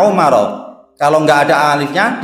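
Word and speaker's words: عمر: Kalau ada huruf alif belakangnya, membacanya Umar.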